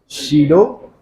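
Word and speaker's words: pseudo: शीडो force. हाँ, P silent, लगता है दिखता नहीं है, उसी को सेंट्रीफ्यूगल भी कहते हैं।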